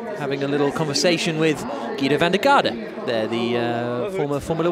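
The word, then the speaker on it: Giedo van der Garde: But or Guido van der Garde, as I think I should actually pronounce it, seeing as we're here in the Netherlands.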